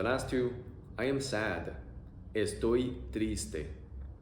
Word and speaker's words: estoy triste: Estoy triste. Estoy triste. E-oi-i-e. E-oi-i-e. Estoy triste. Estoy triste.